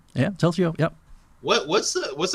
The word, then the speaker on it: Telzio: uh T they say it right T yeah telio yeah what what's the what's the meaning of